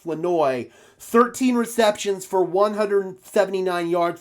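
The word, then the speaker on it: Flournoy: And I know it says Flowerinoi. It's what it looks like, but it's pronounced Flenoi.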